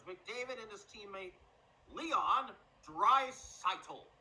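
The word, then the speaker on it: Draisaitl: the Edmonton Oilers McDavid and his teammate Leon dry seitel pronounce it right they also have the League's top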